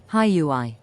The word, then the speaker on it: xHyui: I used to say Huey too. But then I went and checked, and then you go, how to pronounce it, right? Here you go. Wait for it. xHyui. Bam! xHyui less than 3. See? xHyui. xHyui. I ain't crazy.